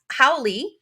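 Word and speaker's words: haole: okay wait real fast so howly person right is h a o l e and that is Foreigner how oi is h a o l i and um it sounds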